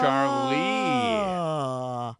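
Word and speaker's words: Charleigh: jess c h c-h-a-r-l-e-i-g-h oh charlie like like a lee served on a grill i guess so the charlie so how did you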